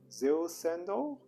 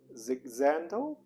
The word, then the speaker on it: Jil Sander: they pronounce it like i think american pronunciation would be zero sandal and i think the german german original pronunciation i heard is zigzando i probably just butchered the names but oh well so